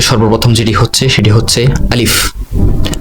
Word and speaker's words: আলিফ: আরবি হরফ 29টির মধ্যে সর্বপ্রথম যেটি হচ্ছে সেটি হচ্ছে আলিফ। আলিফের উচ্চারণ হয় আ। আলিফটি একদম লম্বা দাগে লেখা হয়, এর উচ্চারণ স্বাভাবিকভাবে হবে আলিফ।